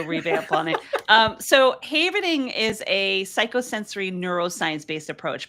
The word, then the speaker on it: havening: And havening, as I mentioned, uh, as you mentioned actually in the in the bio, it's pronounced havening, right? Like a safe haven because it's a transitive verb of the word haven, a safe place.